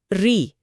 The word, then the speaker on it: ऋ: आज हम इसे व्यंजन र और स्वर ई को मिलाकर री की तरह बोलते हैं।